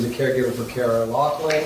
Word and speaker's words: Loughran: It is Loughran. I was just going on, I think someone told me that was how her name was pronounced. Kara Loughran, not Loughran. Yes, I mispronounced it.